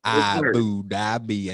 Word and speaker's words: Abu Dhabi: Hey man, you know, Coach Willie, we got to pronounce all the letters, okay? All of them. You don't let not one syllable go. Boy, it is Abu Dhabi and Troy Palu Malu.